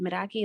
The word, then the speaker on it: Meraki: and I don't think I said this but miraki is a Greek word which is why it's kind of hard to pronounce um and it needs to do everything